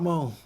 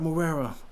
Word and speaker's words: Morera: name is not mo my name is marrero run that [ __